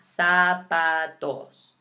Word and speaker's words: zapatos: their shoes sub pathos again watching those vowels ah SAP toes okay so go through